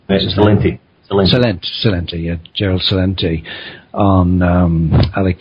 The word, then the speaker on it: Celente: You also have Gerald Celeste. Is that how you pronounce it? Celente, yeah, Gerald Celente, on Alec Jones 2 days